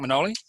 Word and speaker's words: Manoli: How are you going, Manoli? Yeah, I'm going well. Thanks, Johnny. Well done on the pronunciation.